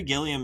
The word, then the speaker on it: Gilliam: Yeah, Terry Gilliam.